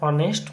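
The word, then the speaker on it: honest: ম্যান এইটা হবে অ্যান অনেস্ট ম্যান অনেস্ট অ এর মতন উচ্চারণটা আসছে তার জন্যে আরো কিছু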